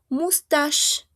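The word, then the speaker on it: moustache: M com mustache. Mustach. Aquí, si se dan cuenta, esta che tengo aquí, ¿a qué suena, chicos? A una sh.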